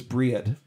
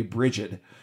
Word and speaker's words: Brigid: And then there was Briad, or if you want to pronounce it the more American way, Brigid, who was a Celtic